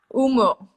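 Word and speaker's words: Umeå: Umea? Umo. I say Umo, but that's Danish. Umo.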